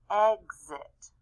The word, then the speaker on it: exit: and here it is in the middle of a word exit exit it sounds like a z right there x is different you